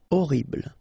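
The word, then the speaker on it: horrible: attractive okay e l orble okay first letter is Ash but then we don't pronounce Ash so you don't pronounce it and the first thing you hear is O orble mayor okay same thing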